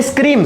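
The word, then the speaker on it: scream: इसी तरह इस वर्ड को देखिए, इस वर्ड में स्क्रीम, स्क्रीम का मतलब क्या होता है, चिल्लाना, स्क्रीम, स्क्री ई आ रहा है लेकिन ए नहीं आ रहा, स्क्रियाम, स्पेलिंग में तो ए है लेकिन प्रोनाउंसिएशन में ए नहीं आ रहा।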